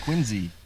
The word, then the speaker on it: Quincy: you should know that it's pronounced Quincy like there's a z in it rather than that's the